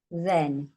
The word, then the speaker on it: then: Not, then. Again, this is a tricky word. It does not say to hen. The H is quiet.